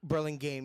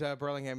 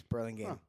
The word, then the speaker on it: Burlingame: is that how they pronounce it? Burlingame? Burlingame, yes. Huh. I always thought it was Burlingame, and I was repeatedly I told.